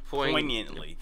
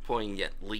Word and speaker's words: poignantly: Poignantly. Yeah. I know the G is silent. Poignantly.